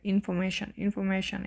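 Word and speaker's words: information: যেমন এইখানে এটা ইনফরমেশন, এখানে আরটা উচ্চারণ হবে না, কারণ এর আগে কি আছে, ও আছে, ঠিক আছে।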